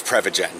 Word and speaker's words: Prevagen: Prevagen but I still because it's pre its prevent aging because it's a memory supplement so it's prev agen and it's pronounced rev to prevent aging again but if you kind